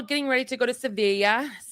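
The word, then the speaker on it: Sevilla: But yeah, they're all getting ready to go to Sevea. I guess it's pronounced See and not Seville, but Sea, Spain.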